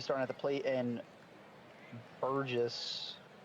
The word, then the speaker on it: Burgess: All right, Dan Thunder's going to be starting at the plate, and Burgess. I was told it's pronounced like burger, so Burgess, I would think.